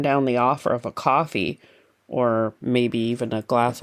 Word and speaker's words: Ko-fi: And we wouldn't ever turn down the offer of a coffee or maybe even a glass of wine.